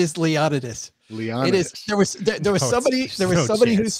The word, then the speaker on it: Leonidas: It is Leonidas.